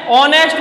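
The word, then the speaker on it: honest: ऑनेस्ट में हमको दिखता एच है, लेकिन एच साउंड यहां पर साइलेंट है और इस साइलेंट होने के कारण यहाँ पर साउंड किसका आता है, ओ का।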